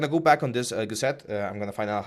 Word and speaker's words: gusset: to announce that the the correct way to pronounce the gusset, as I was saying, is gusset, not not gusset. It's gusset.